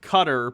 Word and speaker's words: Qatar: fact check from reuters white rhodes 13 guitarist pronounced cutter believe it or not okay i'll probably still pronounce it qatar even though because it sounds weird to me